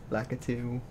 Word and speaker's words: Lakitu: of - I think it's like it - pronunciation wise at EQ lakitu oh it's Diddy Kong think I'll unlock him